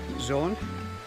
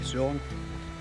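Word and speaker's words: Saône: Yesterday we stayed at Trevoux on the river Zone. I don't know how to pronounce that now. A bit like Rhone. Zone.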